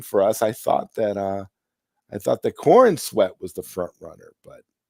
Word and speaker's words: Corenswet: Yeah, Corenswet. Corenswet. Yeah. Corenswet. Almost like corn on the cob.